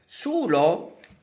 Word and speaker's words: sulo: Okay, so Sulo is a contemporary as well, because we used to write Sulo, but we pronounce Sul. Okay, sul, omitting the O, the final vowel.